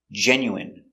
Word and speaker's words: genuine: Remember, medicine, margarine, intestine or intestines, more than one, genuine, famine. Remember, it's countable, a famine, and jasmine. So all of these words are pronounced with the in sound for the ine.